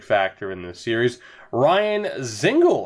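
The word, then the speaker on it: Dzingel: in this series Ryan zingle apparently the uh the D is silent it's not Dingle apparently it's zingle at least that's the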